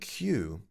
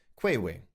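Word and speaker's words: queue: And the word Q, this means vatlang in English. Q. Q U E U. And um, this Polish person said to me that the pronunciation they had given this word was qui and this was how they remembered the word.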